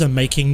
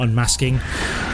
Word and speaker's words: Unmaking: It is Unmaking, not Unmasking.